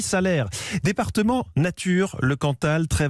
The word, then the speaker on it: Salers: matin sur europe 1 vous dites salaire ou salers on ne prononce pas le nom rendu salaires voilà je pense que c'était bien de le dire souvent c'est peut-être très parisien mais on dit souvent salers donc on dit salaires département nature le cantal